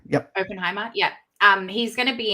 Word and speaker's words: Oppenheimer: Is that how you pronounce that man's name? Oppenheimer. Yep. Oppenheimer.